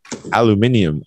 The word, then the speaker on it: aluminium: Meaning aluminium. Aluminium. Aluminium, yeah. Alu, the stress is on min, and you start low.